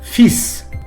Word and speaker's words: fils: їх читання потрібно запам'ятати слово фіз у французькій мові не може читати як фільм у множині воно не змінюється і читається так фісс фісс у цьому слові читання кінцевої літери S важливо і ось чому